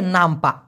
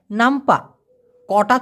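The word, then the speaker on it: nampak: এবার হচ্ছে নামপা, নামপাহ না, এখানে এইচের জায়গায় কে হবে, নামপা। আমি আবার উচ্চারণ করতেছি, নামপা, কটা ছোট করে উচ্চারণ হবে, নামপাক এভাবে না হয়ে নামপা একটা হ্যাঁ করে ধাক্কা দিতে হবে, নামপা, নামপা।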